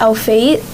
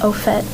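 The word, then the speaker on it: au fait: and words of origin like for example um au phet it's from france and it's spelled a-u-f-a-i-t and people who don't know that it's from france may think it's our fate but it's actually pronounced outfit and what does it mean i can't recall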